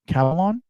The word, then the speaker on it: Kavalan: Now, the way you pronounce it could be a little bit different. Kavalan, that's how I pronounce it.